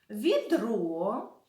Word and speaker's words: відро: лука взяв з собою відро і сачок наголос цих словах падає на другий склад сачок від ро а лука взяв вудочку